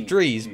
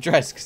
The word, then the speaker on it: Drez: It's pronounced Drees, but I still pronounce it Drez. It's Co-Ray! Dude. And he's got D's. And Drees. Like Breeze.